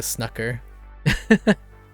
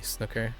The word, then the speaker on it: snooker: Snooker. Okay. Like rook. Rook. Nook. Or is it Snoop or like oud in food? Oh, yeah. Yeah. Yeah. That's still the same. Yeah. Yeah. Yeah. It's still Nook and Cook. Snooker. Cook. Yeah. Yeah. Took took book cook.